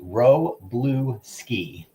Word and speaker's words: Wroblewski: We've got Ricky Ho and Jesse Wroblewski, which I just tried to say it the Polish way, which would be like Wroblewski, which I probably butchered.